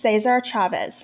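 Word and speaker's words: César Chávez: to 1955 in 1955 she met saves our Chavez I think that's the better pronunciation of his name in 1962 Dolores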